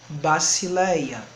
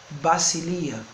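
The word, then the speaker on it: βασιλεία: Aí temos a seguinte palavra: basileia, reino, soberania. Alguns podem pronunciar como basilia, mas continuemos com a pronúncia mais simples, que é essa: basileia, reino, soberania.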